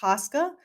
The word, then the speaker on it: TSCA: So the Toxic Substance Control Act, which is often the acronym is often pronounced TSCA, is the premier chemicals management regulation in the United States.